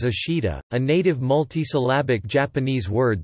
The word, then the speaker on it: 明日: Likewise, ming tomorrow is Jukujikan, and read neither as akari no hi, the kuniomi of the characters, nor menichi, the aniomi of the characters, nor any combination thereof. Instead it is read as ashida, a native multisyllabic Japanese